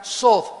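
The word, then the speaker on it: סוד: es la palabra hebrea sod, S de Samuel, O, D de Daniel, TH. La TH en hebreo se pronuncia como una D de Daniel, sod.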